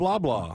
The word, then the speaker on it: Loblaw: Oh, Bob Loblaw. It's Loblaw. Bob Loblaw. And it's spelled the same exact way.